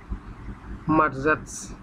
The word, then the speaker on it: marzec: ইংরেজির মতোই মার্চ, মার্জাটস, MARZEC, মার্জাটস, মার্জাটস, মার্জাটস।